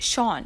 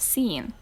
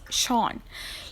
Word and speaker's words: Sean: This name is pronounced Sean, okay? It's not seen, it's Sean.